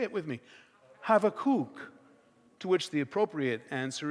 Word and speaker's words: Habakkuk: In Hebrew, they say Habakkuk. Habakkuk. Try that with me. Say it with me. Habakkuk.